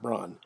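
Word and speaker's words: Brann: resemblance to hitler's mistress it is not ava brown but it is eva eva braun is b-r-a-n-n not brown but braun eva braun uh she is with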